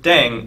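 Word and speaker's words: 땡: playing with language now the pronunciation of deng is similar to thang which is the slang of thing in english last but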